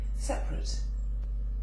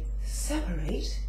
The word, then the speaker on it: separate: drank a moderate amount another one I've got is separate but you would say separate if you were going to say it as a verb so you would separate